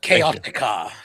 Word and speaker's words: Chaotica: You're supposed to trill the R and say Bride of Chaotica.